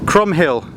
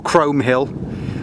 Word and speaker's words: Chrome Hill: out that is um chrom Hill or Chrome Hill depending on how you want to pronounce it and and you can't